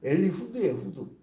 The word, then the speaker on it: 엘리웃: 그래서 완전히 사람들이 살았는데 그 다음에 오늘 본 엘리웃이 나온 거예요. 원래 정확히 말하면요. 히브리어 발음으로는 엘리후드예요. 후드. 엘리후드.